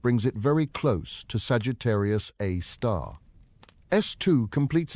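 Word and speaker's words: Sagittarius A*: They named it Sagittarius a star, pronounced Sagittarius, a star after the constellation where it resides.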